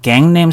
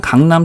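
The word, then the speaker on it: Gangnam: 미국 사람들 이거 강이라고 안 그러죠? 갱이라고 발음합니다. 갱. 남이라고 발음 안 하고요. 냄 이렇게 발음하는 이유 알겠죠? 그래서 미국 사람들이요 갱냄 스타일 이렇게 발음을 합니다. 물론 우리가 나중에 이거는 강남이라고 발음하는 거야 이렇게 말을 해주면요 이 사람들 다 그냥 강남 스타일이라고 발음을 해줘요.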